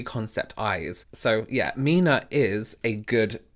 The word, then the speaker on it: 3INA: Now there's a brand out there called Mina which is spelt 3INA. 3, I, N, A, and they they were like “you know it's pronounced 'Mina' and not '3ina'” and I was like